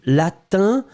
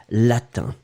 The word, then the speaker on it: latin: le le le i c'est vraiment une nasale d'accord donc ici quand vous mettez i n c'est vraiment un un 1 et ensuite vous allez prononcer latin d'accord vraiment le prononce ici latin il y a rien